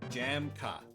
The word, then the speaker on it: Jamka: What is it pronounced? Jamka.